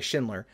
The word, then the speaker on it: Schindler: This interview with Philipp Schindler, Schindler. I've been saying it wrong this whole time.